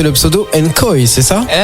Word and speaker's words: Nkoy: mal prononcer le pseudo, Nkoi, c'est ça? Presque une koi. Une koi. Ouais, c'est plus comme, pour un truc technique, c'est genre une, puis koi, comme le poisson koi.